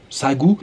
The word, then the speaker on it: Sangu: ce village de sagou ça s'écrit sans de goût mais visiblement ça se prononce sa gauche le match de foot